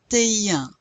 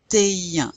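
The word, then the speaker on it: vingt et un: 21 is 21. 21. Now you do pronounce that T because it comes before a vowel, but you don't pronounce this T. This A means and.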